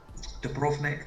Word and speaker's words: Dubrovnik: Dubrovnik, the V is pronounced F.